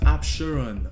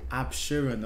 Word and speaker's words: Absheron: Oh, so it's a, it, oh, so it's pronounced Absheron. Oh, Absheron. Okay.